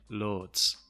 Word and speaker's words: loads: i say loads and the speaker is from the north of england so he says it like lords one more time lord lord some scottish and irish accents have the same pronunciation of loads as well the lady then